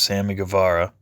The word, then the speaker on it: Guevara: We have, just realized I've been saying his name wrong. It's Sammy Guevara. So I don't know what the hell I've been saying, but that's definitely not the right way to say it.